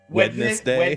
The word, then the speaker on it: Wednesday: Wednesday. Wednesday. Wednesday. What's the N in there for?